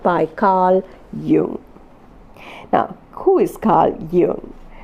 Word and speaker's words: Jung: It is pronounced Jung and not Jung.